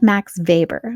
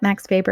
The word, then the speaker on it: Max Weber: perspective next we have Max Weber now we have to remember that Max Weber is German so that W is pronounced like a V not aw max paper